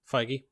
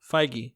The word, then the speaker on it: Feige: the the president of Marvel Studios feige yeah what really that's how you say it fige yeah huh it it's